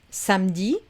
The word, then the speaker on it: samedi: Pareil avec samedi, c'est pas un problème, mais vendredi, on garde le E.